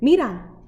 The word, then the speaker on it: mira: When we see something in Spanish, we say mira. Mira, mira allá, look over there. So that's how you say it, mira. So it's M-I-R-A. Can you try saying that? Can you try saying mira?